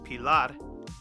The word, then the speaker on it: Pilar: So Pilar in Spanish, Pilar, and that's the reason why I mispronounced it, because people weren't pronouncing it correctly in the first place.